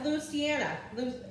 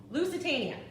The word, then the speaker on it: Lusitania: super fun all right the answer was luciana how do you say it here lusitania uh it was a